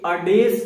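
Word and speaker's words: adage: अडेज शब्द जो है उसका प्रोनाउंसिएशन की अगर हम बात करें तो इसको क्या कहेंगे, अडेज कहेंगे।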